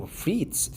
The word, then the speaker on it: frites: Oh, frites. They are pronounced frites. Frites, not frites.